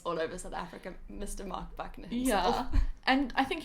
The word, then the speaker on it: Marc Buckner: Yeah, Marc Buckner.